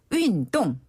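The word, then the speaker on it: 运动: 자체는 또 뭐라고 합니까 운동은 우리나라 발음이 정말 비슷해요 윈동 윈동 한번 더 윈동 윈동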